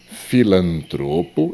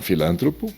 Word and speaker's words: filantropo: Filantropo e não filântropo.